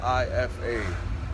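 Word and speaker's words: Ephah: But here's the thing: it's not spelled I-F-A. It's spelled E-P-H-A-H. That's Ifa. So in the past, I started reading up on it, but I was reading up on the wrong Ifa.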